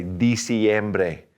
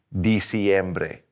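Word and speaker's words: diciembre: noviembre noviembre in december we don't start with a de we start with a di so say di siembre di siembre all right let's back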